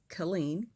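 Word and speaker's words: Killeen: coral was born in colleen texas right colleen k-i-l-l kill not sure if this is like foreshadowing or what but he was born in colleen texas um november 7th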